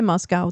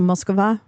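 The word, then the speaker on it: Москва: You don't say Moscow. That's not how you say it. It's a Moskva.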